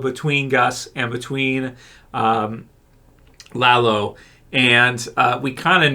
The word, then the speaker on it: Lalo: between gus and uh lalo i apologize last time i said layla i don't know why